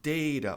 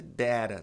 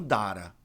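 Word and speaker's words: data: Pode ser dera também, mas não dara. Tem muita gente que fala dara. Dara tá errado. Ou é deira ou é dera, tá?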